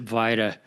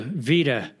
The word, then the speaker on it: Vita: thank you David and my apologies I pronounced it VA so thank you Vita Vita Health well you